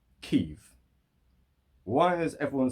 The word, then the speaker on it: Kyiv: We're, you know, us as English speakers, we've always said Kiev, Kiev, Kiev, Kiev. And now it's reporting live from Kyiv, yeah? The latest thing out of Kyiv.